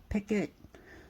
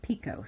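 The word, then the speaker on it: picot: some people pronounce it pick it some people pronounce it Pico so I'm really not sure how you pronounce it but we're going to say Pico for today it's p i c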